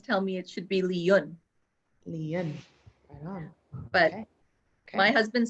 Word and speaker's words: Yuen: generations ago okay so they pronounce it caribbean way which is li yen oh okay i don't